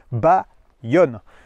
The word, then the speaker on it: Bayon: puisque ce Hyundai, alors il y en a qui vont prononcer Bayon, c'est pas ça, hein. Hyundai nous dit ça se prononce Bayonne.